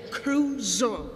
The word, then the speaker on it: Crusoe: To, Na ostrově Crusoe. Crusoe. No tak správně se to vyslovuje Crusoe.